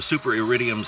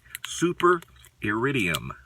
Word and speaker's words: Iridium: The Super Iridiums are extra stainless. Have you had the chance to see these blades or use them yet? Super Iridium, that's how it's pronounced.